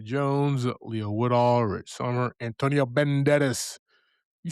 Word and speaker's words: Antonio Banderas: We got Dominic Sessa, Emilia Jones, Leo Woodall, Rich Sommer, Antonio Banderas.